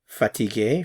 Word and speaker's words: fatigué: Now this last one, tired, it's pronounced the same for both, however it's spelled differently. Fatigué for the masculine, fatigué, and fatigué for the feminine.